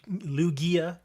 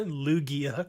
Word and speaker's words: Lugia: it sounds so weird that's a lugia that's why i don't like the soft g on that okay you really want to call lugia i'm not going to